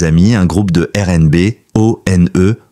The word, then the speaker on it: ONE: À Montréal, il fonde avec quelques amis un groupe de R&B, O-N-E, prononcé One.